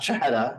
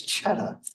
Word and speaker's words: Chheda: you can hear the aspirated second H, which is not a separate syllable. So it's not Chheda and it's not Chheda, it's Chheda.